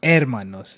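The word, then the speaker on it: hermanos: तू टीएनएस दोस अरमानोस एरमानोस एरमानोस एरमानोस और sisters एरमानोस अरमाना एरमाना एरमानोस एरमाना H silent हो जाता है बस एजिया टीएनए उन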